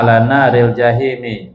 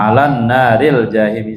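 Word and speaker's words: على نار الجحيم: Dia bilang ini bacanya ala naril jahimi, nar jangan pakai alif lam. Kebanyakan orang bacanya pakai alif lam, salah. Banyakan bacanya alan naril jahimi, salah. Yang betul jangan pakai alif lam karena tarkib idhofi, mudhof ilaih.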